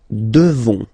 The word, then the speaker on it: devons: Nous devons. Okay, classic ending ONS for nous. Okay, you just pronounce this on, this nasal. Okay, and then the S, final S is not pronounced. Nous devons.